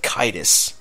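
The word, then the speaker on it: Caedus: You get why Kaitis, as I finally have the official way of saying Jason Solo's Sith name. It's Darth Kaitis.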